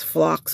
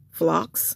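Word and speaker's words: Phlox: I think it's flocks or something.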